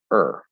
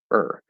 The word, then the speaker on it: or: that's also say er the word or um is nine times out of ten pronounced er not or it reduces to er so that is a